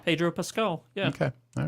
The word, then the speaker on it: Pascal: world coming to wait how do you say it Pascal Peter Pascal well this is one thing where I guess I've been saying it right this whole time skull Pedro Pascal yeah okay all right